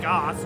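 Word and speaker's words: Gose: beer sour tropical fruit I think it's pronounced Goss g-o-s-e we're gonna try this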